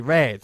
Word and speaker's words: read: They read, como el color, pronunciado igual.